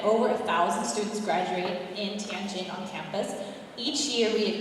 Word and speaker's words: Tianjin: with its new location in how do you pronounce that, Bill? Tianjin. Tianjin.